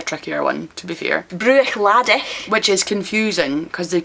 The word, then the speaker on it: Bruichladdich: So Bruichladdich, it's Bruichladdich. Bruichladdich. So you don't go Bruich, it's Bruch.